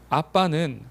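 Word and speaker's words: אבא: 어이 말의 원어를 보면은 아빠는 발음도 똑같아요 아빠예요 아람어 발음인데 똑같이 아빠라고 해요 아빠 우리는 아빠라고 하지만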